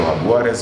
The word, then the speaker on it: Jaguares: We have the Stormers beating the Jaguars or Jaguares, however you want to pronounce, 32-25.